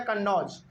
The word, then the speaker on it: कन्नौज: दूसरा गलती उत्तर प्रदेश में जो कन्नौज है इन्होंने क्या बोला था उस समय पे?